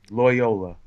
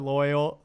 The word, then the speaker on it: Loyola: Loyola. Loyal. Okay. What am I looking at? There's the schools. What should I put? Loyola.